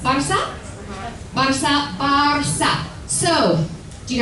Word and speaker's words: Barça: And you'll see the C truncada, which is the C with the little tail, and that's pronounced as an S. Barça.